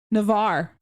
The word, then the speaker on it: Navarre: Are That you was asking about Navarre. pronunciation? Navarre.